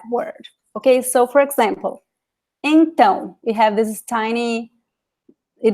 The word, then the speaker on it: então: of graphic accent, you already know that that syllable, that little letter is the stressed letter in that word. Okay, so for example, então, we have this tiny, it is called tilde here.